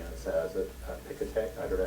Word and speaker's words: Piketty: I've certainly been teaching and using Piketty as a Piketty, I don't know how you say its name. So I think it's like cockatoo. It's first strongest accent on the first syllable.